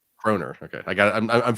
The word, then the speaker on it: kroner: How do you pronounce it? Corona. Kroner.